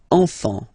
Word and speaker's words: enfants: Enfant. Don't pronounce the T, you don't pronounce the S. Enfant, okay?